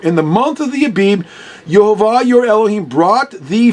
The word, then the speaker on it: Abib: IV because the bets the letter bets the second letter in the Hebrew alphabet can be a b or a v pronounced depending whether it's hard or soft sound but anyway most I